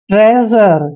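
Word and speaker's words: treasure: तो देखिए यहां पर जब भी एस से पहले ए आता है तो एस का उच्चारण हम ज करते हैं ट्रेजर ट्रेजर होता है खजाना ट्रेजर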